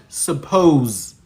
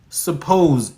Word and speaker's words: suppose: The the word suppose suppose in English the pronounced version of the word does not have sa. Doesn't have a vowel. Suppose. It's a schwa, suh. Suppose. Suppose. And it's short vowels. You know, we don't know that. We think it's a open mouth vowel. So we would say suppose. It's not suppose, it's suppose. So we have not actually learned phonetics properly.